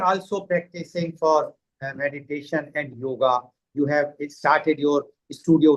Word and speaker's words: yoga: So, what is exactly yoga? As uh we pronounce it yoga, actually it is yog.